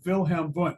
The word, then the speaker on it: Wilhelm Wundt: And if you want to say it correctly with a German accent, you'll say Wilhelm Wundt.